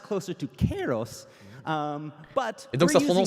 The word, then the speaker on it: Kairos: I've been informed by one of our staff members with the Greek heritage that this is actually pronounced closer to Kairos.